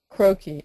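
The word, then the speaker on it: croquis: in the question box um can you spell croaky again and then pronounce it again yes croaky is spelled c r o q like Queen u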